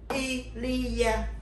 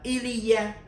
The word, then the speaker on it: il y a: Thì tiếng Pháp chúng ta sẽ đọc là Elia, đọc nói âm các bạn, chữ in, chữ y và chữ a, chúng ta sẽ đọc là Elia, có nghĩa là có.